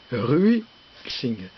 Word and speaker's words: Ruixing: Bonjour, aujourd'hui comment on peut régler, parce que ça se règle, un carburateur Ruixing. C'est écrit ici, voilà, R-U-I étoile Xing, ce qui se prononce Ruixing.